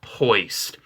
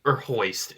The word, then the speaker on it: Hoist: Number 8 goes to the most moist Autobot around, and it is Hoist. Hoist is a very moist boy, because his name rhymes with moist, and no one likes the word moist.